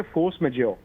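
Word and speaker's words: force majeure: मुझे फ्रेंच आती नहीं इसको प्रोनाउंस कैसे करते हैं इसको कहते फोर्स मेजर ये कांट्रैक्ट में होता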